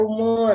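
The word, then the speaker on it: oemoer: Oemoir dibaca umur ya.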